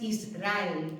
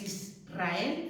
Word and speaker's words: Israel: Israel, ¿sí? No es Israel, es Israel, ¿sí?